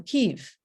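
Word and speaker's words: Kyiv: i'd say the tale of bygone years um kiev right here that's the ukrainian pronunciation which we now know um was the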